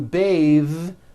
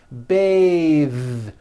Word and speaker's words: bathe: voiced smooth bathe the word bath is a noun with an unvoiced th Beth but when you change it into a verb to bathe the vowel changes to an a sound and the th is voiced bathe like in bathing suit breathe same thing breath